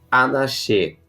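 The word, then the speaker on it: אנשי: É a palavra Anaxê, tá? Se escreve com o Yud no final, que é equivalente ao Y, tá? Anash. Porém, a gente expressa Anaxê, tá? Ou Anaxê.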